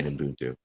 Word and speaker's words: Ubuntu: together and living in agape, unconditional love, and Ubuntu.